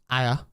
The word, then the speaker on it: Ayr: Kilmarnock versus Dundee United, Livingston versus Hibs, Partick Thistle versus Ayr. Even though it's spelled AYR.